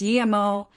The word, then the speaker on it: Yimo: It's Yimo, but not Chingi.